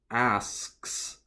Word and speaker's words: asks: you have to say he asks that kind of s K S sound and it is considered one syllable it's not asked us it's not an extra sound and then the other